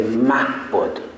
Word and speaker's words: Mahbod: In Persian, we say the H. We pronounce the H. So we say Mahbod.